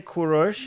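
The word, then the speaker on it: Kourosh: therefore we have to go with the Greek pronunciation of all Persian terms. I mean, Jews call it the same thing. Jews say Kurosh, Iranians say Kurosh, and Cyrus is not just Greek anymore; it's English.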